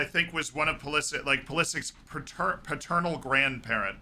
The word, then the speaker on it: Pulisic: I know the Croatian pronunciation of Christian's last name. Like it's Pulisic. Like I know that. But he is Christian Pulisic.